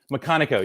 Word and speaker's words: McConnico: I'm an Pronounced McConnico. Yeah, it's a long Scottish name.